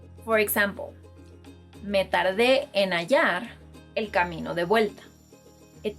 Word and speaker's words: hallar: Another verb is, if you're either thinking or you've been pronouncing this verb as jalar, that's wrong because the H is silent in Spanish, and if you pronounce it in this word, you'll be changing the meaning entirely.